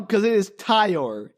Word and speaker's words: Ty: I thought it was Tyler for half the movie. I'm like, and then I heard Caitlyn tell me, "Why is Caitlyn saying the name wrong?" I'm like, "Oh, wait. No, wait. It's Ty."